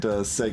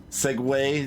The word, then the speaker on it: segue: at least you didn't seg into Shields there segue is how that word's pronounced God it still feels